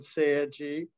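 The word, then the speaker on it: 青磁: same two characters used in korean and japanese pronounced chung-ja and korean and seiji in japanese in in uh in east asian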